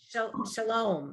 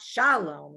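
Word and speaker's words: שלום: and which syllable and in hebrew you know it's it's always shalom it's not shalom it's it's that second syllable always gets the accent not so much in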